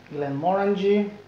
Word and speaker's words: Glenmorangie: которая называется гн mor гн mor внимание ударение надо ставить на последний слог как он гн мо